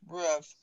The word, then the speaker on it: roof: My Wisconsin cousins pronounce roof with the same vowel sound as the word foot.